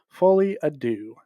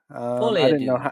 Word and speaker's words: Folie à Deux: So Joker, I finally learned how to actually pronounce this. It's Joker Folie à Deux. fully ado.